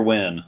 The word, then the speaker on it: Nguyen: It's somebody with the intention of win, and that's how Just- we pronounce it. Yeah. Or Okay. It's not quite Wynn, or It's Gwen.